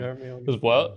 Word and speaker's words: Hermione: Hermione and not Hermione, like I had been pronouncing it in my head the entire time. Hermione.